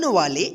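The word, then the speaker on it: way: तो यहां पे देखिए ए का ऐ उच्चारण का जो नियम था कि जब किसी इंग्लिश के वर्ड में ए के जस्ट बाद वाई रहे या ए के जस्ट बाद आई रहे तो इस दोनों का उच्चारण जो होगा ए होगा क्या होगा ए होगा यानी ए वाई ए होगा उच्चारण ए आई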